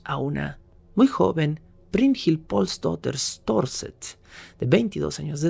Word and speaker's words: Pálsdóttir: llamaba en aquel entonces, año de 1881, Brynhild Pálsdóttir. Un nombre un poco más difícil de pronunciar para mí, pero finalmente Brynhild era eso, era Brynhild Pálsdóttir, siguiendo la tradición noruega, Pálsdóttir.